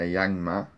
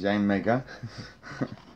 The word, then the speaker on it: Yanmega: Reverse Holo is a Yangma. Yanmega. Yeah, I keep saying it wrong because I've seen it four times. Yanmega.